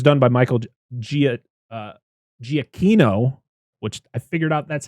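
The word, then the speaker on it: Giacchino: uh music was done by Michael Gia uh giacino which I figured out that's how you pronounce his last name because I watched there's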